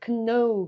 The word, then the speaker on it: know: За өнөөдөр бол N үсгийн уртаалд орсон K үсгээс аваа гарахгүй. За тийм учраас энийг know гэж уншиж болохгүй байна шүү дээ.